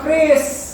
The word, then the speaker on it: QRIS: Makanya Trump protes soal KRIS, Trump protes soal gerbang pembayaran nasional, gitu loh. Karena bacanya itu KRIS ya, bukan QRIS. Baca, ya kita ikutin orang Indonesia dia bacanya KRIS, itu QRIS.